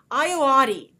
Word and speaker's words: Ayoade: And then Richard Ayoade. I want to make sure I pronounce his name correctly. Ayoade.